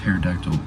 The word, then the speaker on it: pterodactyl: explain why the heck there's a P in front of pterodactyl or an O in front of possum.